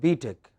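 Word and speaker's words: B.Tech: tech yeah it's not b tech it is on the other hand what is it no it is b tech stress on the second don't say beat it but say b tech what is it yeah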